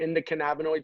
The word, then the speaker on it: endocannabinoid: Doc Goodman's next book has got a big part about the, am I saying it right, endocannabinoid system?